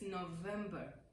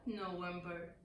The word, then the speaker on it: November: For example, it's November, November, not November, November. Because I understand in some accents or languages, the V or the W is pronounced as V or vice versa.